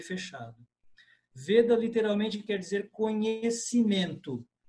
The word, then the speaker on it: Veda: A pronúncia é veda. Em português, veda, mas em sânscrito, veda. Com o e fechado. Veda literalmente quer dizer conhecimento.